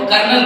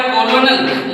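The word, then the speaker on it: colonel: उसको हम लोग कर्नल कहते हैं। लिखा हुआ है कॉलोनल लेकिन हम पढ़ते हैं इसको कर्नल।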